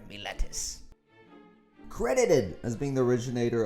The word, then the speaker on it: Miletus: Unfortunately, my pronunciation is probably shoddy at best, but just think of an angry pirate saying Miletus. Arr, Miletus.